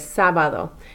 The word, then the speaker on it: sábado: Notice there's an accent mark here over that first A. It's sábado. You are going to emphasize that first A where the accent mark is more so than the other ones.